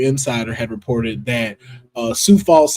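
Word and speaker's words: Sioux Falls: had reported that uh Sou Falls South Dakota has their own con which is a um Super Con, but you know it's spelled like Sue.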